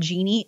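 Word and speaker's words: Geeni: There's one by a company called Genie. It's spelled weird, G-E-E-N-I. That's $15. And some of these switches only work with one brand, but some, like the Genie, work with Amazon or Google.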